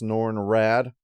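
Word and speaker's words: Norrin Radd: while I realize it probably is supposed to be pronounced norn rad I'm going to be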